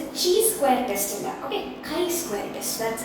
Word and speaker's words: chi-square: It's a chi-square test. Okay, chi-square test, that's how you pronounce it.